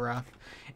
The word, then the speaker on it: wrath: Everyone in this Bedwars game should be running away in terror of your wrath. Wait, it's actually pronounced Wrath in UK English.